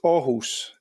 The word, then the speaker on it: Aarhus: How was my pronunciation of Aarhus? It's Aarhus, if it's to be.